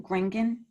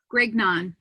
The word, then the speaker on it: Grignon: Do you pronounce Christie's last name Gringan? Grignon. Grignon. Okay. Yeah, but if you were French, you would pronounce it completely different again.